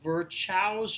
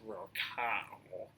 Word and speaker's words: Virchow: reference to something called Virchow's triad. I'll admit right now, the correct pronunciation is Virchow. But there's a CH, so I just have to say Virchow, I'm sorry.